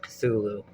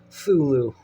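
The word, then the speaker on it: Cthulhu: it interesting that uh the AI goes with the silent uh sea version of cthulu fulu which is like I say a perfectly respectable pronunciation but it had a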